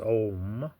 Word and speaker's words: Om: And this one Sanskrit word, it is a word, A-U-Um, but when you put it together, it is pronounced Om, A-U-Um, or A-U-M in English.